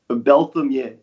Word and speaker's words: Berthomieux: with this technically like my name is pronounced belam it's very French I've been listening people butcher my name literally since day one Bel belam M yeah all right